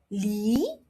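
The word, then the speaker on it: lì: So, for tone two, you say it like this. li li For tone four, you say it like this. li li All right. So, as you can see, li second tone it means pear. li fourth tone it means strength Another example.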